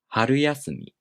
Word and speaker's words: 春休み: When these two words are combined, the first part becomes unaccented, and the accent falls on the first mora of the following part. So this word is pronounced 春休み.